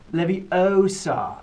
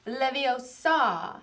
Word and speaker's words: Leviosa: Besides, you're saying it wrong. It's eye out. It's saying it all wrong. It's Leviosa, not Leviosa.